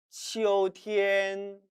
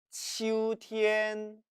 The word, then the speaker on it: 秋天: 가을 치오티엔 또는 치우티엔, tien을 르로 바꿔서 치오르 또는 치우르로 발음해도 상관은 없습니다.